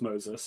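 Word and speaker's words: Moises: I I know his first name is pronounce Moses it's just yeah spelled differently than how youd normally see it Moses Aries I think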